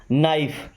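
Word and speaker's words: knife: Okay, नाइफ, इस word को भी ध्यान रखिएगा, एन के पहले जब भी के आता है तो के साइलेंट होता है।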